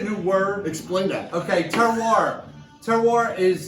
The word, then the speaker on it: terroir: Okay, terroir. Terroir is It's unbelievable. it's spelled terrier, right? But it's pronounced terroir, and it's from France, right?